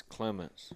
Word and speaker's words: Clements: Is it pronounced Clements? Clementis. Okay. It's Clements. That's what I always said, so I just thought Yeah. maybe I've been doing it wrong all along. No, sometimes people like to drag out the other E, but Put the emphasis on the wrong syllable.